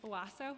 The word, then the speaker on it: OASO: So can you share with us under which city agency is the OASO, how do you pronounce that? It's OASO.